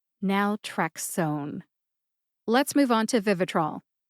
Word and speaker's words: naltrexone: source told me that the O in o n e is a long o sound therefore it is pronounced